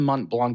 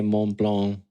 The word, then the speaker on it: Mont Blanc: It's not a hard at the end of Mont Blanc. It's French. So, we already know how my French is here, Urban.